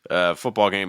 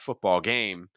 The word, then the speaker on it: football game: Football game is a compound noun, so you need to make sure that foot gets your stress. It's not football game, it's football game. Football game. Notice that everything goes down in pitch.